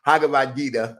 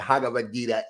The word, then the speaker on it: Bhagavad Gita: in the Bhagavad Gita, I'm still messing that up. Bhagavad Gita, I got to remember the B is silent. The Bhagavad Gita is meditation.